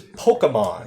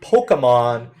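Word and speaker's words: Pokémon: as a Disney iconic dark queen duck versus Pokemon this one hurts and yes it is pronounced Pokemon not Pokemon or Pokemon this one's tough I want to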